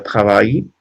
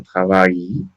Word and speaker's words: travail: Bueno, la L no es una vocal, pero cuando ustedes vean una I y una L, se va a pronunciar, su símbolo fonético es una J, y eso quiere decir que es una I alargada, ¿ok?